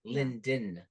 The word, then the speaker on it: Linden: sound it out L like he just cut out the D part like L like Lyon like lynville no it's Linden Linden say it again